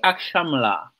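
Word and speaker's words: akşamlar: Et donc S S avec c dit en bas là, il prononce comme ch. Ah, I ak chamlar.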